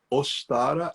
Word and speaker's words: Ostara: como eu tô falando os t a r a ostara as pronúncias gente também variam tá então alguns locais você chega postar em outros os trará depende da região que você tá interessante